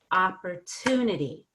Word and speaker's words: opportunity: TU in and then you're not gonna stress the pur part but you're gonna stress the off so it's opportunity so yeah that definitely